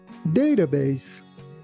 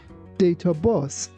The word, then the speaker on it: database: First of all, keep in mind that in US pronunciation, letter T here sounds like D. That's why we say database. And also, please be careful not to say data boss.